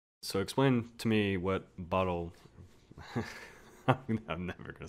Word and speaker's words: Batalj: So explain to me what Batalj. I'm never gonna say it right. Batalj.